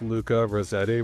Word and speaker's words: Luca Rossetti: So today we have a very special international guest, Luca Rossetti, which he informed me is the perfect American way to pronounce his name.